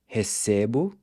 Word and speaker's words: recebo: So you have recebo, pronounced with a closed E, then recebe and recebem are pronounced with an open E.